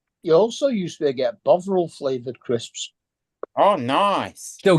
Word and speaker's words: Bovril: You also used to get Bovril flavored crisps. Oh, nice. Still get them. Yeah, What flavor? Bovril, yes. Bovril. Bovril. It's fucking vile. Bog I roll. love it. Bog roll. Bog. Bovril.